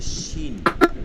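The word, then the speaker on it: ش: আছে সিনের ক্ষেত্রে কোনো দাঁতের প্রয়োজন নাই বিপরীত শিন হচ্ছে জিহ্বার মধ্যখান তার বরাবর উপরে তালুতে গিয়ে লাগবে এরপরে উচ্চারণ হবে শিন শিন শিন আমাদের প্রথম দুইটা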